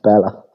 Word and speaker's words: Bela: You have to spell it out because Bela. yeah, ballet. Bella, yeah. Yeah. But it's pronounced Bella.